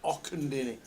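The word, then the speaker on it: Auchendinny: How about Ochendinny? Is that Ochendinny? There we go. That's what we're going for. Ochendinny. That's what I'm going for. Just outside Edinburgh. It's got to be Och, because there's a golf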